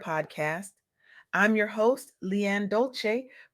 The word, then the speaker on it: Dolce: I'm your host Leanne Dolce, pronounced doulce like sweet softness whispered in French.